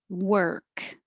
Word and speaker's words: work: For work, forget about the O. It's just the sound that your tongue makes in the R. Your tongue is curled back and down.